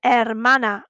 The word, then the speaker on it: hermana: abuelo mi umbrella me can you see that the h's on hermano and hermana are in gray because they're sh silent letters try once more escuchas